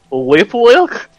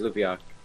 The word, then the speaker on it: Lupiak: Whip Wilk? No, Lupiak. It's Lupiak.